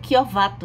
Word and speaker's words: Chiovato: Se pronuncia Chiovato, né? Mesmo com o CH.